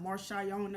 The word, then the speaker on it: Marshauiona: my name it's super long my name is pronounced marshana's not marshana and I'm Marcia Iona and I'm wash marciana it's just that